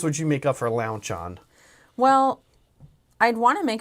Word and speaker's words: Lauchon: Lauchon. Lauchon. Luncheon. Launchon. Oh, there's no N. Okay, Lauchon. Lauchon. Not luncheon.